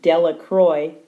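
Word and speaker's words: Delacroix: Harry Jones and Dicky delaqua the people in the town pronounce his name delacroy make a very large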